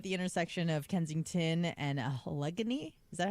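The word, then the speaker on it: Allegheny: Edwards had been filming a music video at the intersection of Kensington and Alggony. Is that how you say it? Alagany.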